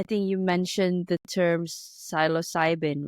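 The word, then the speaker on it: psilocybin: amazing so I think you mentioned the term silos cybin right am I producing it correctly absolutely pronouncing okay yeah so so this this type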